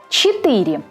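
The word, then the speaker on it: четыре: 4. Е не под ударением. Произносим почти как И.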